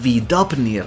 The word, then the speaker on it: Víðópnir: There is also a large bird, what may be the Víðópnir (pronounced as vee-dop-nir), a large majestic bird